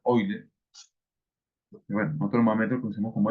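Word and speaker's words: Euler: eler o eler digamos se escribe eer pero se pronunciar oiler bueno conos como e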